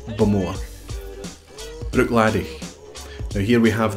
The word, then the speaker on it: Bowmore: Now, some people accent the second syllable, Bowmore, and other people do it on the first syllable, Bowmore. Either is acceptable. But if you go to the distillery, if you ask somebody at the distillery how they pronounce where they work, they would say Bowmore.